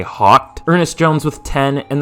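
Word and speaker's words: Hoecht: Floyd, 11 from Michael Hawkt. Is that how you say his name, or is it like hiked? I've heard it pronounced hiked, but that sounds stupid, so I'm gonna say Hawkt.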